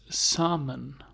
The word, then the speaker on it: salmon: it like this it's salmon so you don't pronounce the L it's silence yes now